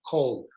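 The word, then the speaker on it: כל: all or every, and so therefore all or every or each is always pronounced kol.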